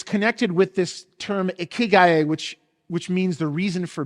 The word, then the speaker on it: ikigai: The first is ikigai.